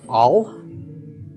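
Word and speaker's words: עַל: We've got ayin lamed with a patach under the ayin. This is pronounced al.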